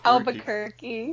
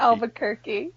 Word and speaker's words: Albuquerque: I can pronounce it better if I say the accent, okay? Just go with me. I love it. Is it you in there? Is it quirky? Albuquerque. Quirky. Albuquerque.